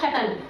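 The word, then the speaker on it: subtle: एस यू बी, देखो टी से पहले हमारा बी आया है, यानी कि जब भी वर्ड में टी से पहले बी आएगा तो उसका उच्चारण नहीं करते, यानी कि वो वर्ड हमारा साइलेंट हो जाता है बोलने में।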